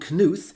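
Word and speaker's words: Knuth: A very famous computer scientist uh Donald Kuth. Yes indeed it's pronounced kuth. It's not a silent K.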